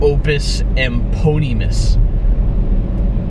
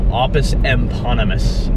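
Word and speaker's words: Opus Eponymous: It's like Opus Eponymus. No, Opus Eponymus. I know people want to say it fucking phonetically, but no. It's not how it fucking works.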